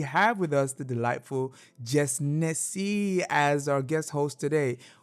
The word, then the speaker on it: JessNneCee: Okay, so for real, if you want to get to nitty gritty, it's Jess Nessie. Like as in Igbo.